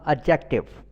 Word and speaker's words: adjective: ایڈجیکٹو بولتے ہیں، ایڈجیکٹو۔ اس میں یاد رکھیے گا کہ آپ نے اس کے تلفظ میں ڈی نہیں بولنا، ایڈجیکٹو۔ اس کے بعد ایڈورب،